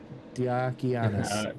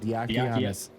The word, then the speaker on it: Diakianis: Diakianis. That's how you say it. Diakianis.